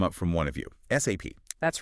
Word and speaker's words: SAP: It's not SAP. Forget saying it like a word. No, definitely not. You have to spell it out. SAP every time.